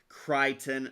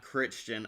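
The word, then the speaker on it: Crichton: Also, the author's name is pronounced Kryon, not Christian.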